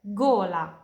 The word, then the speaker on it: gola: G più O, gola, tenggorokan. G più U, guanti, sarung tangan. G più H, spaghetti. Jadi pronunciasinya kayak G di bahasa Indo, ganteng.